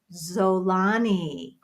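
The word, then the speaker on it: Xolani: thank you thank you it's pronounced zolani oh that's pretty oh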